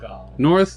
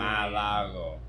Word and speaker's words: Mar-a-Lago: road, and 106 miles Mar-a-Lago. northeast That makes sense. of the island of Mar-a-Lago. I mean, Say it like a New Havana. Yorker and you understand. Malago. Malago.